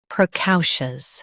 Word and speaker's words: precocious: Today we will learn how to pronounce the word shown on the screen, precocious. Both US and UK have the same pronunciation of this word. Stress cow. Keep pr soft and shus smooth.